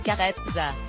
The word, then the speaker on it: Carezza: Carezza, qui se prononce carezza, est un type de rapport sexuel doux et affectueux.